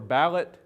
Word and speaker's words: ballad: music the tradition of ballad singing or ballot singing as it was sometimes pronounced in the ozarks uh goes goes way